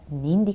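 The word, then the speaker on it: нинди: В вопросительных единицах и вопросительных местоимениях ударение должно падать на первый слог. При элизии (отпадение звука) между двумя словами ударение может меняться, приспособляться к речи. Но для того, чтобы речь была ясна, нужно стремиться ставить ударение к каждой речевой единице. Например, Ни'нди кешеләр белән очрашу? Ка'йчан барырга кирәк?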